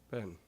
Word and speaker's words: been: Okay, residents of the far north have an oddly Canadian way of pronouncing B-E-E-N. Ben. Ben, yeah. Let's see. So yeah, blue says it's like set, Ben, set, Right.